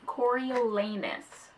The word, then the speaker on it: Coriolanus: And yes, his name is pronounced Coriolanus Snow.